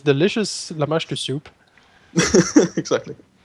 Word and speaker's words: Lamashtu: I mean, Llama Stew. That's basically how I've. Yeah, Lamashtu is probably the right way to pronounce it.